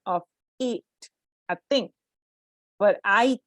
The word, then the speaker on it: IT: are actually initialisms and initialisms are words pronounced letter by letter here is the difference and please pay attention to the pronunciation they are pronounced letter by letter so for example i t is not pronounced it